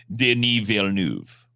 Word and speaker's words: Denis Villeneuve: French has language ties, being a root Latin language, with Spanish, and the Spanish version would be Denis Villanueva, but the French pronunciation is Denis Villeneuve, and you can look it up. Villeneuve. Yeah, you can go watch a video where he says his name.